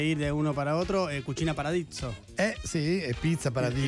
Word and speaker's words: cucina paradiso: Cucina paradiso. Cucina paradiso. Muy bien, la S es más suave, ¿no? Cucina paradiso.